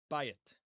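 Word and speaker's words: בית: But here it's not. And the reason we know it's not is because the previous consonant has a vowel sign. It has the patach, the short A vowel. And therefore, the yud, which follows it, must be a consonant in this case. Okay? And that's why it's written like this.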